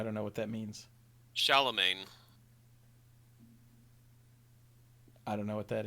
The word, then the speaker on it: Charlemagne: Shallow main, like shallow waters. Why are you or- so shallow, man? That. Like Gucci Mane.